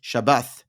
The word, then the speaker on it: Shabbath: It's Shabbos, which is Ashkenazi pronunciation, Shabbat, which is Sephardi, or Yemenite, which is Shabbath.